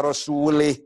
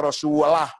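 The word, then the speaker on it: رسوله: Innallaha bari'um minal musyrikin wa rasulih. Salah itu. Allah tidak melindungi orang musyrik dan tidak melindungi Rasulnya. Salah. Bacanya harus Innallaha bari'um minal musyrikin wa rasulah. Jangan lih. Rasulah, jangan rasulih.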